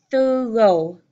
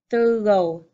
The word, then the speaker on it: thorough: Our last word here, remember this has two syllables, thorough, thorough.